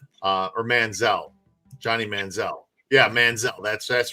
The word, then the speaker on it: Manziel: And it's Johnny Manziel. That's how you pronounce it. So I said it wrong. Manziel or Manziel.